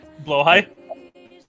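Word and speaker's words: Blåhaj: pronunciation of that shark, I've been Blowhigh?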